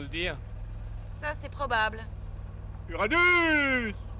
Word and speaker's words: Uranus: Uranus! Ça se prononce comme ça.